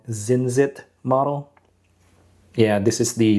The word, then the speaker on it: Zincit: And this one right here is from a newer brand called Zinzit model. Yeah, this is the Singer DLS. Um this is how you spell it, z i n c i t.